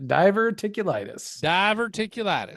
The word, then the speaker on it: diverticulitis: Diverticulitis. I still mispronounce that. Diverticulitis. I got it. Diverticulitis is like a diver. Ticking your lattice. Your litis. Tickle your lattice. Diverticulitis.